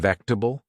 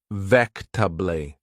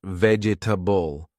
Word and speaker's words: vegetable: They gently said, "Do you mean vectable?" I was confused. I didn't hear the t sound. I asked again and they said slowly, "It's pronounced vectably, not vegetable."